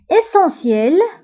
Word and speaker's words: essentiel: Essentiel, essentiel, daruri. فانتبهوا بالنسبة للessentiel. فنطقنا سيل ولكن كنكتبوها بالتي دونك essentiel remarque remarque هي ملاحظة